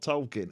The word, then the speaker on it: Tolkien: she was she was a buffoon it's JRR talken everyone calls in that apart from clearly Australians